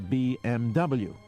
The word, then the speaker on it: BMW: If you want to call a Mercedes a Mercedes, why then you would call it a BMW.